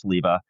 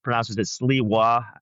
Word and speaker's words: Sliwa: Curtis Sliwa out of New York is the guy who started the Guardian Angels. My name is spelled the same way. He pronounces it Sliwa, but I've always pronounced it Sliwa.